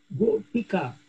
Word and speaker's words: Gopika: So the only thing I would nitpick is the Gopika, when you the short E, don't lose it. Still pay attention to how you pronounce the E.